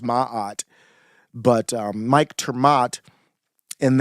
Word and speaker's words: Maat: a female goddess actually that that it's actually pronounced Maat but um Mike turmat and then also Jacob